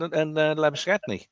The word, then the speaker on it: Labuschagne: And even Steve Smith and Labuschagne, to give the correct South African pronunciation.